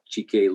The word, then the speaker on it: Chike: The first one I want to introduce is Chike. Did I pronounce that right?